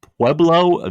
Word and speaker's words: Pueblo: Uh, Pueblo Village. P Ub L O. Am I pronouncing that right?